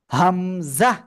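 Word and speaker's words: همزة: দিব আপনাদের আমি বলি হামজাহ জোরে বলতে হবে হামজাহ আপনারা কিন্তু বলতেছেন না হামজাহ মিশকা আপনি বলেন মিশকান মিউট হয়ে নিবেন সিফাত এদিকে এই যে হামজা এ অক্ষরে কোন টেনে পড়া যাবে না হামজা হামজা হামজা ঠিক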